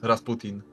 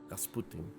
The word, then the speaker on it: Rasputin: an English act okay in Polish it's Rasputin Rasputin nice uh basically he